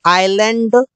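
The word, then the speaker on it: island: फो silent letter S जब एस के बाद एल आता है तो एस साइलेंट होता है इसे इससे बोलते हैं आइलैंड इसे बोलते हैं आईलेट नो की आईलेट आइसलैंड इस प्रकार से नहीं बोलते मतलब कि अगर एस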